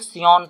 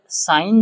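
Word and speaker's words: scion: Signature वाला नहीं है, इसको साइन पढ़ते हैं, कुछ लोग सियोन पढ़ते हैं, ठीक, लेकिन इसका जो सही प्रोनाउंसिएशन है वो साइन है, रूट स्टॉक और साइन।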